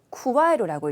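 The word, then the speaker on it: 加える: 가하다라고 해서 쿠와에루라고 읽죠. 쿠와에루.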